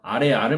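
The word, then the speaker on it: 아래아: 그것들의 원리를 바탕으로 천지인 3제의 원리를 바탕으로 만든 건데 하늘의 둥근 모습을 따서 아레아를 만들었어요. 아레아는 발음이 우리가 지금 하고 있는 아보다 조금 깊은 발음이라고 생각하시면 돼요.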